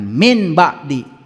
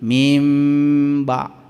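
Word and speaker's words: مِنْ بَعْدِ: Lamun nun mati ketemu ba disebutna ge ik klab. Iqlab teh kalbu kade ulah dibaca nun. Bacanya mim ngadengung sing aya getarna. Bukan min ba'di, tetapi mim ba' tuh nun mati ketemu ba dengung ada getarannya.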